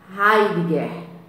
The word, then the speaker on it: Heidegger: Se pronuncia o nome dele assim, Martin Heidegger, ok?